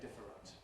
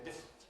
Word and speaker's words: different: We don't usually say different. We say different.